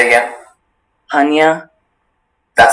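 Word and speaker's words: punya: Panya?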